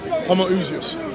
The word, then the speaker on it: Homoousios: Homoousios.